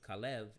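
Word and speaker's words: כָּלֵב: we talk about caleb the name caleb kalev is actually from kev dog or we said the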